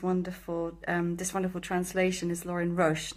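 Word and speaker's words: Lorin Roche: before and I'm very grateful that the correct pronunciation of the author of these wonderful this wonderful translation is Lauren Roche not Roche which have been saying most of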